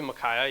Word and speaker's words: Micaiah: I think it would be Micaiah, yeah.